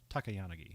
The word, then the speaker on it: Takayanagi: No, it's Takayanagi.